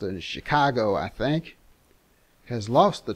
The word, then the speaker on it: Chingachgook: for instance one of his acute Indian experts chingachgook pronounced in Chicago I think has lost the trail of a